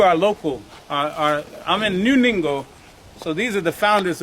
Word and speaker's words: Ningo: But we're actually in New Ningo, N-I-N-G-O. Rhymes with bingo with the N.